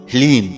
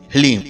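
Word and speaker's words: ह्लीं: ध्यान से सुनिए ओम हलीम इसमें ह ला और बड़ी ई की मात्रा और अं की बिंदी हलीम यह है माता बगलामुखी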